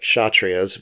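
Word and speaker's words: Kshatriya: so the warriors are the chatrias with kind of a silent k at the beginning although i do periodically say the k and you'll have to forgive me for that but we have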